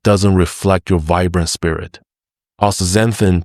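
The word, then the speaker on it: Astaxanthin: Ooanthin, pronounced as th z a n thin, is extraordinary for one simple reason.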